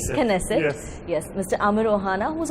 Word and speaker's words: Knesset: To talk about this growing bilateral relationship, we have with us the Speaker of the Senate, if I'm saying it correctly, Knesset.